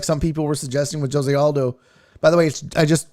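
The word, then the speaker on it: José: He's Brazilian, and so you pronounce the J. Jose Aldo.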